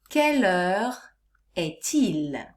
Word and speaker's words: Quelle heure est-il: example the key question for this lesson is caler etil you will notice that under the question i